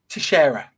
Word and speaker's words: Teixeira: Teixeira. Jack Teixeira. We'll just have to look at Spanish Portuguese name. That's better than anything else I can come up with. It. So Teixeira.